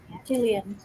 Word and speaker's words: Gillian: Jillian. Jillian. Everyone says the other, but because my name starts with a G, people get mixed up because usually it's spelled with a J.